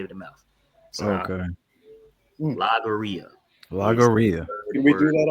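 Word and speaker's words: logorrhea: Lagaria. That's how you pronounce it. Lagaria. All right. Like diarrhea of the mouth.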